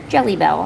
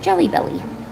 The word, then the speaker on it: Jelly Bell: Yeah, if I happen to forget, just say, hey, this is Jelly Bell, and I'll be like, oh, I remember Jelly Bell. I kept pronouncing it Jelly Belly.